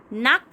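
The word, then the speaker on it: knack: इफ़ you have a नैक for dancing, अब देखिए यहाँ पे एक नैक लिखा हुआ है बट यहाँ पर के जो है वो साइलेंट है, तो नैक फॉर डांसिंग।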